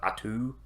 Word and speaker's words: Otto: And the biggest difference here from their journey is they meet a small kid named Otto, and not as in like German Otto, but Atu, if you want to pronounce it, they're tribal.